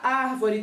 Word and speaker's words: árvore: mais forte ok então na palavra árvore é a última sílaba vó é a penúltima e ar é a antepenúltima que a sílaba que